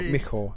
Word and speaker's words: Michał: Well, I understand the L doesn't get mentioned, doesn't get pronounced on Michał. So it's more Michał. So because it's an L with a line through it.